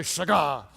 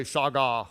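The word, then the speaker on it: שגה: is the word saga' everybody say shy god you have to say it like that with attitude it doesn't work if you say SOG ah okay it's snug ah this is this word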